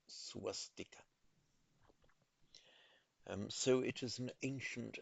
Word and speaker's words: swastika: The correct pronunciation in Sanskrit is swastika.